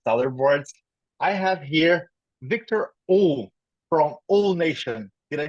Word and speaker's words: Uhl: I have here Victor O from 𝐿_NATION.